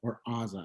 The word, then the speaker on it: Azza: This is when we find out Azal has Azza, I keep pronouncing her name wrong.